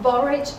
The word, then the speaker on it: borage: There is some borage oil.